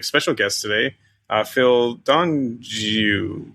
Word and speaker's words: D'Anjou: Uh Phil Donju Danju, how do you say your last name? It's uh it's it's Donju. Don French Canadian.